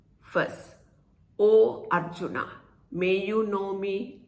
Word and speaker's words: Om: consists of three sounds when we chant o we open the mouth at awe close the mouth at um and becomes o when the mouth gets